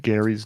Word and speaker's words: Gary: way that Tom pronounced Gary's name. Just like in the really early seasons, he would always call him Gary. Like he would do that ah sound.